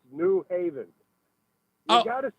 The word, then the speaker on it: New Haven: You're putting the emphasis on the new and not the haven.